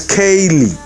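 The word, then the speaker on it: Kayleigh: your name is charlie if your name is spelt k a y l e i g h your name is kaylee you see what i mean so when the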